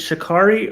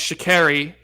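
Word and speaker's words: Sha'Carri: get this right officially is it shikari or shakiri it's shakiri it's her twitter handle is it's carrie and she gets upset if you don't pronounce it correctly so shakiri richardson okay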